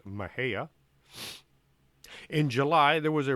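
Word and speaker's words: Mexia: these places too badly i can pronounce mahaya which is spelled m-e-x-i-a pronounced mahea in july there was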